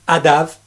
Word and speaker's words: ADAMH: de musiciens écoutez bien c'est le groupe adav mais ça s'écrit adam avec 1h à la fin mais pourquoi donc ça